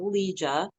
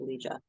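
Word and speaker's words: Ligia: I came up with Liah and then I found out what it meant because Liah spelled l i g i a which is the Greek spelling and the Italian pronunciation um that is that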